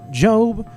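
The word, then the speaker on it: Gob: weekly comedy antics of George Michael job maybe and Buster and that is how you pronounce all their names 40% of all people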